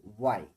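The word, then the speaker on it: why: এখানে ডাব্লিউ এর পরে এইচ আসছে, যখনই ডাব্লিউ এর পরে এইচ আসবে তখন এইচ এর উচ্চারণটা হবে না। তাই আপনারা হয়তো খেয়াল করেছেন আমি কিন্তু এখানে হোয়াই বলি না, আমি বলছি ওয়াই, ওয়ান, ওয়ার, ঠিক আছে, হোয়াট, হু, হুজ বা হুম।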